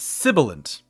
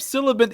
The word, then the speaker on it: sibilant: Sibilant, which is very similar, and why I get it wrong, is Sibilant. Sibilant. No Y at all.